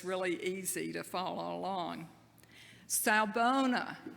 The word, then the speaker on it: Sawubona: Africa, and he said the Zulu language is pronounced just like it's spelled, so it's really easy to follow along. Sawubona, say it with me, Sawubona.